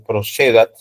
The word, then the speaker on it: procedat: Estoy, por si acaso, haciendo la pronunciación italiana, y la pronunciación italiana, en efecto, las vocales débiles con C se pronuncian como la che castellana, ¿no? Entonces, procedat, ¿no? Como si hubiese una CH ahí, ex officio, ¿no?